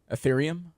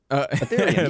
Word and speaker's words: Ethereum: That says how you pronounce it? Ethereum. Ethereum.